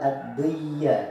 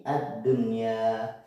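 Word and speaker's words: الدنيا: Bukan, cara membacanya bukan ad-dunya tetapi ad-dunya.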